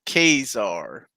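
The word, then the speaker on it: Ka-Zar: he said okay curtis it's not true it's pronounced cazar what so stanley is wrong everybody the magazine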